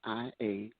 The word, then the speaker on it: Garvey: That's Ania Garvey, Garvey. The same way you pronounce Marcus Garvey.